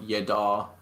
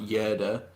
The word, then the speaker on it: Yadar: Yeah, but then obviously we've got Yadar, as it's pronounced, not Yerda.